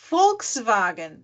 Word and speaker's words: Volkswagen: o o o o v deles tem o som do F tá por exemplo eu sempre dou o exemplo PR os meus alunos da Volkswagen Volkswagen se escreve primeiro com V depois com W porque o Volkswagen ele é um compósita né é uma uma complementação de duas palavras Folks povo wagen veículo então Volkswagen então Volks som do eh